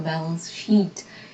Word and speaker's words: balance sheet: Tem que ser uma pronúncia longa para não confundir com uma palavrinha feia aí em inglês, né?